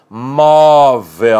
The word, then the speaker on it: móvel: por exemplo acontece com a palavra móvel ou a sílaba tônica é a penúltima tem de ter acento agudo o acento agudo em virtude de a vogal ser aberta móvel certo muito bem observemos